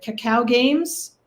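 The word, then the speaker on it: Kakao Games: Is it Cacao Games? And if I'm pronouncing that correctly?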